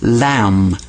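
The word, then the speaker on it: لام: One of the letters in the Arabic language is called lam. Now it's not a sheep, it's lam.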